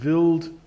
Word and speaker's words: Wild: type articles on comet wild 2 and that's that's how I pronounce it supposedly it's a German guy it's so it's supposed to be pronounced billed to but I always